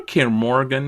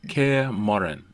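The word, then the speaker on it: Kaer Morhen: do they know where kim morgan is like am i saying it wrong it's it's scare morin okay uh do they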